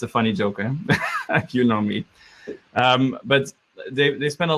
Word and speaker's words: Unomi: customer data platform and it's pronounced as you know me it's kind of like a word joke and it's a java